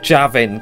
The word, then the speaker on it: Gavin: is going to be Gavin but pronounced like Javin cuz giraffe I love him and